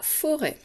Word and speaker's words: forêt: ensuite forez je tape forêt deux syllabes première syllabe faut je fais chanter les lettres deuxième syllabe ray et là j'entends le sont elles qui s'écrit eux avec un accent circonflexe un chapeau comme dans la forêt et il y a une petite lettre muette c'est le thé pourquoi on met un